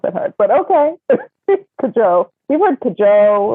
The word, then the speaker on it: Cajou: Because it sounds like cashew. Right. It's not that hard, but okay. Cajou.